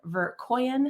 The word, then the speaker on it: Verkoeyen: Nina hello yeah you said it perfectly it's a tricky name to pronounce but you did it what what is the foundations is that German uh it's dutch it's my husband's name yeah that's okay okay